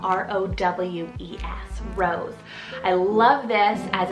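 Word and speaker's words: Rowes: name on the boy side is the name rose spell r-o-w-e-s rose i love this as it's derived from the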